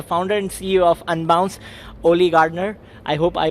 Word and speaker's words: Oli Gardner: I'm with the founder and CEO of Unbounce Olli Gardner I hope I pronounced your name right yeah the name yet